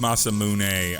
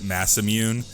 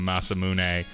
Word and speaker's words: Masamune: next little bit of story yeah it is pronounced Masamune MC 117 I always as a kid pronounced it Masamune and then I heard the pronunciation of Masamune and I was like okay I guess that's